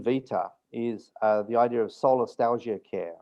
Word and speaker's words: solastalgia: yeah, it's SOLA, solar, STALIGIA, Like solastalgia. nostalgia, but it's solastalgia.